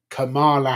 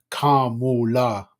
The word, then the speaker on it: Kamala: And now we have Kamala Harris. Sorry, apparently it's not pronounced that way. It's pronounced Kamala, I think, or somewhere along those way that way.